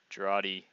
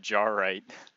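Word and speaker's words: Jarate: Jarati. Or as I used to call it, Jarrite. I actually thought it was pronounced Jarrite.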